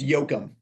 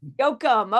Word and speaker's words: Yochum: It's Yochum. Yochum.